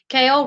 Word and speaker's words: Kail: her baby daddy Joe, Kail rhymes with jail, so yeah, she's going to jail.